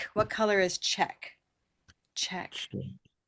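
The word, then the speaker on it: Czech: We need red. Check. I'll give you a hint. It's very close by. Purple. Purple shirt. No. Okay. That would be cher. Cher. Cher. This is check. Cherk. Check. Try moving down just one category. Silver pin. Okay, that would be chick. Like a baby chicken. Chick. Check. Chick. That's close.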